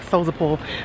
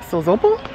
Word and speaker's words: Sozopol: of it's called soso pool I've been saying so the pool but it's pronounced so Zobel yeah I know so everyone's supposed to be